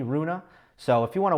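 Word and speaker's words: Rune: um some people are calling him roon some people are calling him Runa if you are um if you are from Denmark and you want to weigh in on how an English speaker should say his name uh I did speak to a Swedish friend of mine he told me Runa so if you want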